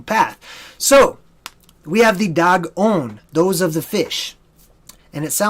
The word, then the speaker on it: Dagon: So the Dagon, D-A-G, is pronounced just like the animal, dog.